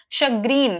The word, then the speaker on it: chagrin: Chagrin, that's how it's pronounced.